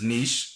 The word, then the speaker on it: niche: And then another word is in U.S. English, it's pronounced as niche, so people know that word. Niche. But according to British English, they say niche as in switch.